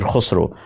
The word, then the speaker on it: Khusro: Many Urdu names have this sound, kha. Urdu poet Khaja Mir Dard, Bollywood musician Khayyam, and famous poet and musician Amir Khusro, their names have the sound kha.